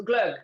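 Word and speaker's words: glögg: the americans spell it so we have we have it all with two dots called er you don't have that in your alphabet so it's called g-l-o-g-g for you so glug okay right so what we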